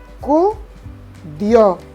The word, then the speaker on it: acudió: Tú no dices acudió, no dices acudió, no dices acudió. Decimos acudió. Por lo tanto, la fuerza de pronunciación está en la letra O.